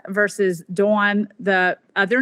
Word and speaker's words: Dawn: So my sister, her father-in-law is Don, D-O-N, and her sister-in-law, his daughter, is Dawn. That's how they pronounce it. I say Dawn and Dawn, but when I'm around them and they're from the Midwest, they very much distinguish those two.